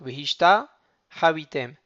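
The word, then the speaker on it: והשתחויתם: Quand il y a un patah suivi d'un hataf patah, on peut imaginer qu'il va y avoir une garia entre le ta, entre le patah et le hataf patah. Ça permet de donner une espèce de, de son agréable.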